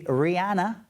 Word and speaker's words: Rihanna: Rihanna. That's how she pronounces her name.